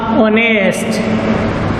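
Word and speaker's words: honest: जैसे मैंने यहां पे लिखा ऑनेस्ट, यार, जैसे मैंने लिखा और, ठीक है। अब यहां पे हम उच्चारण करते हैं इनका, तो ये एच है वो साइलेंट रहता है।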